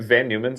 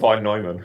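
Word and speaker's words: von Neumann: Are you talking about vonoman? Vonman. Oh, I'm sorry I didn't pronounce the right way.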